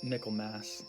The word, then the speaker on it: Michaelmas: other angels called Michaelmas, pronounced Michaelmas. It's so funny, it's like Christmas, but with Michael, or Michael's Mass.